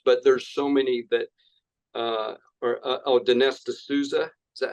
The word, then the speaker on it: Dinesh D'Souza: And we know the censorship on this platform and others, but there's so many that Dinesh D'Souza, is that how you say his name? Dinesh D'Souza, yeah.